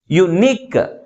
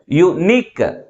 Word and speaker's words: unique: Last syllable is pronounced with a greater force comparing with first one. That's why the primary stress is on the last syllable. Okay, unique, unique.